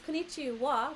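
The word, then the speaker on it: こんにちは: Yeah, it's konnichiwa, but you spell it with ha. Konnichiwa. Ha. Like this. Same like watashi wa, you use watashi ha. Like this. Ha is wa.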